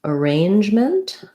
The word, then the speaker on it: arrangement: schwa and unstressed syllables in arrangement we have an unstressed syllable so letter a says the schwa sound sounds like uh and then our stress is on the range syllable it's just like the word range if that word gives